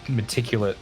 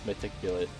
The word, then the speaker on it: meticulous: So I have the world's most meticulous pastas and pizzas for some reason. Meticulate. Yeah. Meticulate. I'm to the Did I pronounce it point wrong?